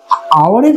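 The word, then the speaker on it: hour: তাহলে আওয়ারের ক্ষেত্রে উচ্চারণটা মানে এইচ ও ইউআর এর ক্ষেত্রে উচ্চারণটা আওয়ার হচ্ছে, আর হাউসের ক্ষেত্রে উচ্চারণটা হাউস হচ্ছে। যেহেতু হাউস হচ্ছে তাই ওর আগে এ বসবে, এবং যেহেতু অ্যান বসলো আওয়ারের আগে, কারণ আওয়ারটা উচ্চারণটা আ দিয়ে আসছে তাই এর আগে অ্যান বসবে।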